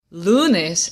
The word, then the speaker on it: lunes: first word is Lunas lunes ends in a consonant but the consonant is s or n which means that lunes is a Jana word and the emphasis is on the second to last syllable lunes and since the emphasis really is on the second to last syllable we don't need an accent now let's try the